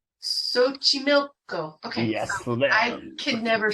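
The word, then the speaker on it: Xochimilco: Fiesta that we were talking about before and pronounce it again for me Sochi Milko Sochi milk go okay yes I could never say that correctly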